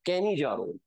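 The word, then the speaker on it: Cannizzaro: तो इनसे कहा गया कहीं नहीं जा रो, कहीं नहीं जा रो, कैनी जा रो, मतलब ये कैनिजारो रिएक्शन देंगे, कैनिजारो रिएक्शन वो एल्डिहाइड देते हैं जिनके पास अल्फा एच नहीं होता है।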